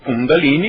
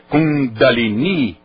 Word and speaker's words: Kundalini: Como Kundalini é pronúncia inglesa. Como Guru é pronúncia inglesa. Como Jai é pronúncia inglesa. Na pronúncia original é Mudra. É Jaya. É Guru. Qual foi a outra palavra que eu usei? Kundalini. Então vamos pronunciar certo.